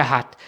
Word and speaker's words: hat: कहते हैं कि क्या, हाथ जो है HAT, ये हैट नहीं है, ये हाथ है। हाथ जो है बेसिकली कॉन्जुगेशन है वर्ब हाबन की, ठीक है, ये एयर के साथ हुई है, एयर हाथ।